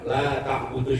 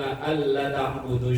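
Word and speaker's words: لا تعبدوا: Kalau bacanya salah, ya bani Adam alla ta'budu syaiton, yang depan kalau dibaca pendek itu mah, wahai anak Adam, sendaknya kalian pada nyembah setan. Yasinan malah nyuruh orang nyembah setan. Gara-gara bacanya balik panjang pendeknya.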